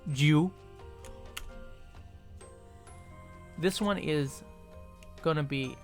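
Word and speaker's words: じゅ: Or like, Ju is G-U, Ju, because there's no J sound, so you would have Ju, like Ju. So it sounds like Jew, but it's Ju.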